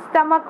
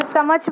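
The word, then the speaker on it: stomach: रहे हैं, है ना, स्टमक बोल रहे हैं, स्टमच बोल रहे हैं क्या हम लोग, नहीं। तो स्टमक का मतलब क्या है, हमने इस सी एच को कैसा प्रोनाउंस किया है, के।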